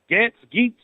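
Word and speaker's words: Gaetz: I believe it's pronounced Gates, but I could be wrong. Geets, whatever his name.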